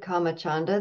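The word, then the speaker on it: kāmacchanda: written down in and the comma part of that is not comma as in karma k a m ma a it's comma with a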